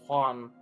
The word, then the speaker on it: Juan: Yeah, because they don't do J's in Spanish really, or their J's sound like H's. The way they pronounce it. That's why it's Juan.